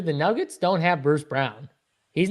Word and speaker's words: Braun: Did I say his name correctly? Yeah. Oh, okay. Okay, good. They still say it wrong on TV. It drives me nuts. Braun. I've been saying Braun forever.